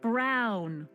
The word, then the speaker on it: Brown: That's Emmett Brown. Rhymes with clown, which I'm beginning to think you are.